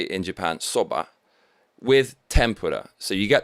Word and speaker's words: soba: ramen noodles but it's brown colored noodles soba americans say zelda but we say in japan soba with tempura so you get the soba it's